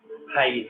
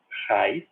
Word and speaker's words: raiz: Tipo raiz em português. Raiz. Raiz é acentuada porque tem o hiato ali, né? Ra, o A está numa sílaba, e o I está na outra. Tem ocasiões em que muito